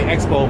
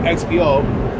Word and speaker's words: XPO: like xpo uh or you guys may mispronounce it say expo but it's actually it's called xpo they actually uh are